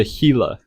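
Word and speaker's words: Gila: The next animal is the gilla lizard. It's actually pronounced the hila lizard.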